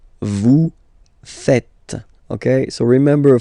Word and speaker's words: faites: Okay, but then no, it's vous faites, vous faites. Okay, so remember, final S here is not pronounced, and then this is not pronounced either.